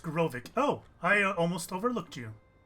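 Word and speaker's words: Graavik: And it's pronounced Grovik.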